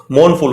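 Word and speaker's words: mournful: मनाया जा रहा हो मोन फुल हो एक वर्ड होता है ना मोन यही उसका दिया था इन्होने मोन का मतलब होता है मोन नहीं है आर को साइलेंट करके बोला जाता है मोन फुल तो मोन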